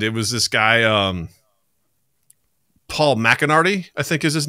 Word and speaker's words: McCartney: I think the local product, the Liverpudlian pronunciation is McCartney. Oh, that's it's a the race it's a car driver, thing. Right? Get back here. It's like very glottal in the back of the throat.